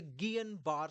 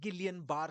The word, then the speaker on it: Guillain-Barré: And today I will tell you about the Gillian bar syndrome. Yes, that's how it is pronounced. You don't call it Gileian bar syndrome. You don't call it Ganbar syndrome.